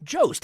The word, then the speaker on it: Jost: Jost, how it's spelled, Jost, Jost. Okay.